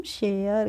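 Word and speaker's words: share: पढ़ेंगे इसको पढ़ेंगे हम शेयर क्या पढ़ेंगे शेयर पढ़ लेंगे और ये जो लास्ट में ई होती है तो हम इसका प्रोनाउंस एशन फ्रेंड्स नहीं करते हैं मैंने पहले भी आपको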